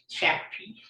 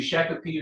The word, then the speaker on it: Shakopee: You pronounce it Shakopee. I think it could be Shakopee or Shakopee.